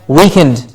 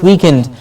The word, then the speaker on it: weekend: to end week and please remember this sometimes is mispronounced and we hear weakened what are you doing this weekend weekend sounds like w/e a k e and e d which is weakened after a batch of